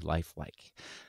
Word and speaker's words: Lifelique: It's LIFELIQUE, Lifelike.